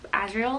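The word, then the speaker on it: Azriel: you say it Cassian and asriel like Ariel the mermaid asriel beautiful there are just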